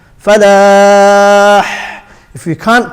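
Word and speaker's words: فلاح: The ha comes from the middle of the throat. That's the makhraj of the ha. So hayya ala falah, falah.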